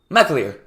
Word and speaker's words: McAleer: How do you pronounce his last name? McAleer. Yes, Yeah. that's correct.